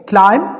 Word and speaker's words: climb: क्लाइम CLIMB क्लाइम यानी चढ़ना, B will be silent hair, B यहाँ पर साइलेंट होगा।